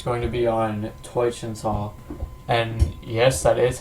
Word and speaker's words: Teutschental: And this week it's going to be on Teutschental.